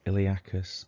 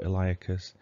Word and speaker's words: iliacus: got psoas major and iliacus or eliacus doesn't really matter how you pronounce it psoas major comes from